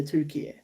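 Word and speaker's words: Türkiye: name changed in foreign languages from turkey to tukey yeah yeah or pronounced turkey a i don't think people can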